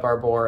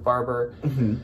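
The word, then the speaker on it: Barbour: called barbor or barber i'm not exactly sure how it's pronounced i always call it barbor and i've definitely heard people say barber so barber is going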